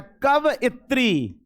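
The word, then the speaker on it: कवयित्री: Actually pronunciation कवित्री का होता है कव इत्री।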